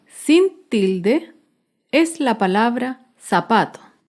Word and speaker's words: zapato: tilde es la palabra zapato el zapato se acentúa en la penúltima sílaba pero no lleva tilde porque termina en vocal zapatos otro ejemplo de